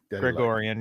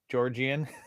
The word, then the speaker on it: Gregorian: Gregorian. That's fucking badass. Gregorian. Yeah, you're right. You're right. I always say Georgian.